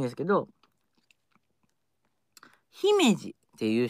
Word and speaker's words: 姫路: 色々あってねはい姫路は地元では姫路って言います地元の人はねでも東京の